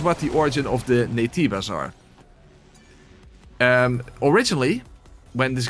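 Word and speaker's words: Naytiba: the Korean uh pronunciation because the Koreans already pronounce it as nativa so they simply kept the the Korean uh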